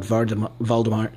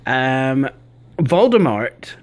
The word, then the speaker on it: Voldemort: true it is, but apparently Voldemort is actually supposed to be pronounced Voldemort. You see, Voldemort's name was actually taken from the French Voldemort, which means flight of death.